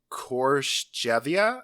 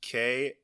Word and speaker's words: Khortytsa: It's Khortytsa. Cortizza. Kortitsa.